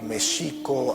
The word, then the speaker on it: México: Titlan, le les comentaba que Mexico así es como se pronunciaba en el México prehispánico. La X no se pronunciaba ni j sino sh. El acento estaba en la segunda sílaba Mexico Tenochtitlano, no tenochtitlano.